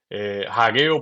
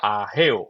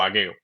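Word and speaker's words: Hageo: Miqueas, Naú, Abacuk, Sofonías, Hagueo, porque yo a veces pronuncio la h, pero debe ser en español silenciosa, ¿verdad? Sería ajeo o agueo.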